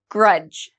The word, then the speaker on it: grudge: don't pronounce the d grudge grudge same rule D and G together Grudge Dodge okay D and